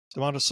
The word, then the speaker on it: Domantas: Is it Domantas? Yeah. Domantas Sabonis.